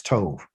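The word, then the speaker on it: טוב: But because it doesn't have a dot in it, it gives it a V sound. Okay. And so we're reading from over here to here. And if I wrote it out, it'd be T-O-V, and that's Tove.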